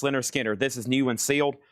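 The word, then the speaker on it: Lynyrd Skynyrd: Pronounced Leonard Skard. Uh let's see here. Pronounced Leonard Skinner.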